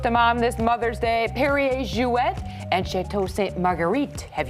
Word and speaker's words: Perrier-Jouët: consonant in Jouet, but because there's an umlaut over the E here, we are going to pronounce it. It's Perrier Jouet.